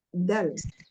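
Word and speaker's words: د: Namun pengucapan huruf dal Indonesia itu tidak sama dengan dal Arab. Contohnya Mesir mengucapkan huruf dalnya dengan lembut. Ya, da, da. Kalau kita kan kadang da gitu ya.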